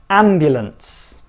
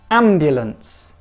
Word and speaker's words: ambulance: one not young okay ambulance ambulance this is a classic word in English where you don't need to pronounce every single letter so be careful hopefully you never have